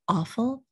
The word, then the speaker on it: awful: notice on the word awful it's spelled with a w but i don't pronounce that w i don't say ow